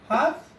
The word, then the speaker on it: half: I'm pronouncing the word half God yo for and these words L is silent I mean it is not pronounced here and the same way